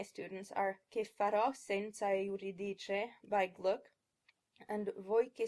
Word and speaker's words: Euridice: In Italian, the first syllable is pronounced as two clear, distinct vowels, eu. But I often hear folks pronounce this word Euridice, with an R-colored schwa followed by a regular schwa.